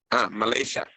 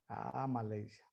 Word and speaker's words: Malaysia: ¿Cómo se pronuncia en inglés Malasia? Malaysia. Malaysia.